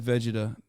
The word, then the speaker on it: Vegeta: character in Akatsuki that that yes I said Vegeta that's the right way to say it I